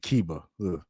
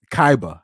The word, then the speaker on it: Kaiba: if I'm not mistaken I said keba Kaiba I think that's how you pronounce his name if I remember correctly